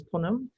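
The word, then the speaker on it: Punam: by first introducing myself my name is ponum p-u-n-a-m so vowels and consonants you've not seen frequently strung together but feel free you cannot hurt my feelings or surprise me with any kind of mispronunciation let me begin by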